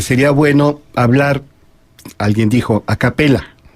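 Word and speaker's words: a cappella: a capella se escribe a capella y se pronuncia a capella porque es efectivamente doble l no es como ahora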